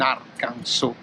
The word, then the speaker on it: Arkansas: è stato trovato in arkansas che si scrive a kansas ma si pronuncia arkansas non so perché seconda